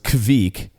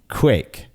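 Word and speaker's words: kveik: to me um I I think the way I was saying it was kek I think he's I think he's pointing that out to me and and if I'm here if I'm reading this correctly it is Quake I have I have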